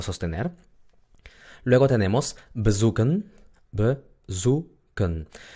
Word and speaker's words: bezoeken: Luego tenemos bezoeken. Bezoeken. Hemos visto anteriormente que la E muda se pronuncia cuando no está en la sílaba tónica. Entonces no es bezoeken, es bezoeken.